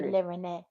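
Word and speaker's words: Rennet: Rene. Reneette. Rene. It's French. I'm English. Reneette. Rene. The French don't pronounce the T.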